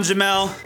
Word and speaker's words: Jamal: Yo everybody, I'm Jamel, spelled Jamal, pronounced Jamel.